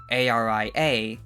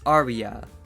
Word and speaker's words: ARIA: recording industry Association as Aria when I got a few comments mentioning that I should just pronounce it as Arya not really sure how